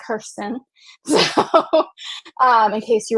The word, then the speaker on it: Kersten: s t n v I know my name is like super difficult to say it's pronounced Kirsten so um in case